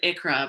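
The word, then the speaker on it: ICHRA: um if you pick i think you pronounced it icra but at i-c-h-r-a and some employees are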